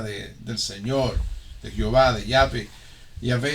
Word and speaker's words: Yahvé: Los expertos dicen ahora que el nombre en inglés más bien se pronuncia como Yahweh y en español como Yahvé.